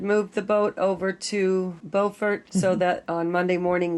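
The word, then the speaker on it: Beaufort: and in North Carolina the town is called bfort not to be confused with bufort South Carolina same spelling different pronunciation but now that I've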